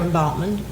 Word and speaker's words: Baughman: Bautman. Baughman. I didn't know how to say it. It's spelled B-A-U-G-H-A-M? B-A-U-G-H-M-A-N. Bautman. Bautman.